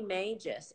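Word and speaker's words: majus: I always mispronounce. Magus.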